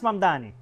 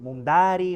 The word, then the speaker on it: Mamdani: Fíjense, nadie sabe pronunciar mi apellido. Es Mamdani, pero a cada rato me dicen Mumdari, Mumnari, y esto es algo que muchos inmigrantes tenemos en común.